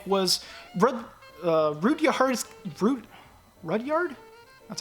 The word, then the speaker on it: Rudyard: first live-action remake was brother rudia hardest fruit rudyard that's how you pronounce it Rudyard Kipling's Jungle Book and no